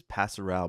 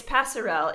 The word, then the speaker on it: passerelle: that is this this pastoral Bridge am I saying it right is it pass around it's passerelle it's it just means